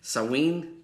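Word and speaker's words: Sanguine: so me and dwight i can't say his name s-a-n-g-u-i-n-e saween dwight sawing who was my hero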